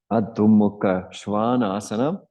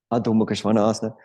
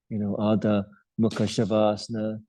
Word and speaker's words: Adho Mukha Svanasana: Adho Mukha Svanasana. Some of you might wonder, why does Jim always bang on about the pronunciation of this pose in particular? Adho Mukha Svanasana.